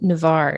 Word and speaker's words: Navarre: And what about your experience in Navarre?